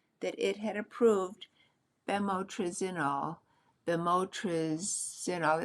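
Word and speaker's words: bemotrizinol: Beimotresol. It's spelled B E M O T R I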